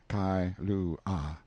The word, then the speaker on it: Kailua: We landed at Kailua, pronounced Kai-lu-ah, a little collection of native grass houses reposing under tall cocoanut trees, the sleepiest, quietest, Sundayest-looking place you can imagine.